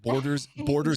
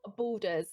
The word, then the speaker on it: Baldur's: um I even like, so you like Baldur's Gate. Have you ever heard of that? No, I've heard of Borderlands, but I've never Borders Gate. Baldur's, so like BAL.